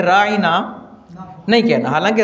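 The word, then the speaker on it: راعنا: आया सर बकरा में राइना का मतलब होता है हमारा हमारी रायत कीजिए लेकिन यहूदी आईन को लंबा करते थे और फिर इसको प्रोनाउंस करते थे जिसका मतलब जो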